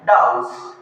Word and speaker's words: dose: तो इसका करेक्ट जो प्रोनाउंसिएशन है वो डोज ना होकर क्या है? डाउज।